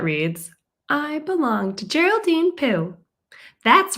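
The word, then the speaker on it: Pu: chapter one meet Geraldine Pooh her last name rhymes with blue and chew Geraldine loves her family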